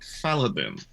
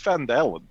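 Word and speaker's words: Phandalin: there will be at faladin i think it's fandalan you are telling me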